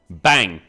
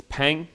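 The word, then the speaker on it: 빵: It's pang, not bang.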